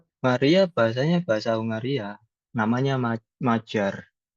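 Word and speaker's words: Magyar: Maria bahasanya bahasa Hungaria namanya Majar. Magiar tulisannya Magiar tapi bacanya Majar di sini.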